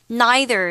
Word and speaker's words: neither: And neither is another way for you to pronounce it. Both are fine. So neither or neither, these two ways of pronouncing the word is okay.